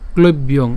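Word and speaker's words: ক্লৈব্যং: তো প্রথমেই যেটি দেওয়া আছে ক্লব্যং, ক্লব্যং এই উচ্চারণটির ক্ষেত্রে আমরা যেটা করলাম সেটা হচ্ছে ক্লব্যং, অর্থাৎ এখানে ক ল এবং ঐকার ব পর্যন্ত উচ্চারণ করছি, তাহলে ক্লৈব।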